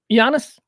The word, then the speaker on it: Giannis: different things here so this is jannis G Giannis ano which is you know very difficult but he's a superstar so we go the extra effort to learn how to pronounce his name yanis ano of the Milwaukee Bucks had a uh